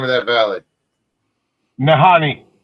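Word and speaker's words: Nahanni: You're going to Nahini, and what is it? Nahini? Yeah, I can't pronounce it. How do you pronounce the name of that valley? Nahani. Nahani.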